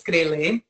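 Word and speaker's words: करेला: So the first one is called a krele. This is how we pronounce it in Hindi. It's krele.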